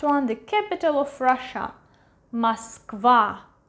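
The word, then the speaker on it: Москва: And the last one, the capital of Russia, Moskva, Moskva, Moskva. Last A is stressed, that's why this O is pronounced as A, Moskva.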